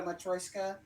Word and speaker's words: matryoshka: All right, so tell us a little about this, because I don't know if a lot of people know what a matryoshka is.